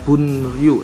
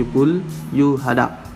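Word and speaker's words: 분류하다: Bukan dibacanya bunryu tapi bulyuhada.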